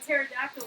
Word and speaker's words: pterodactyl: Why Why can't you hear a pterodactyl go to the bathroom? Why not? Because the P is silent.